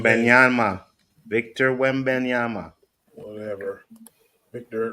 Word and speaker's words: Wembanyama: I can't Victor pronounce his name. Wembanyama.